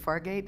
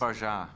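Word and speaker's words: Fargeat: Is it Fargate? How do you pronounce her last? Farah.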